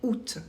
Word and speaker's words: août: ça fait toujours ou on a un mot exception c'est août le mois d'août qu'on écrit avec un a qu'on ne prononce pas ok sinon il faut